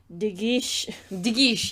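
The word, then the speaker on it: De Guiche: despite the declared duel digi yeah that's how you say it that is the duke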